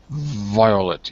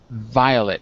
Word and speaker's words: violet: teeth behind your lip if I do it Violet my teeth are almost in front of my bottom lip Violet Violet well I can't see you but you can see me take a look at my big ugly face see it yes okay my teeth are almost outside of my mouth look violet Violet perfect you can do it that's exactly right it sounded 100% better